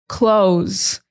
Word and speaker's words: clothes: This word is confusing because it has a TH, but it's not necessary to pronounce the TH. Some people might emphasize the TH. Well, not really emphasize it, but some people might say it.